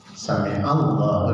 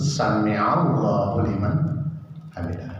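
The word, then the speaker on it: سمع الله لمن حمده: di dalam sholat itu, termasuk kita membaca Sami Allahu liman hamidah. Itu juga sering kita dengar membacanya Sami Allah. Nggak salah itu, Sami Allahu liman hamidah. Jadi betul Sami Allahu liman hamidah, sin, mim, dan ain.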